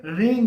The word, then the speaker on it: ह्रीं: बात आती है रींग की। एक्चुअली कई लोग इसे रीम कहते हैं। यहां पर म का उच्चारण नहीं होना चाहिए, यहां पर अंग का उच्चारण होना चाहिए।